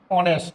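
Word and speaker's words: honest: যেমন একজন সৎ লোক সৎ ইংরেজি আমরা জানি অনেস্ট এইচ ও এন ই এস টি অনেস্ট ম্যান এই শুরুতে আছে এইচ এইচ এর উচ্চারণ কিন্তু হ এইচ কে মনে মনে এইচ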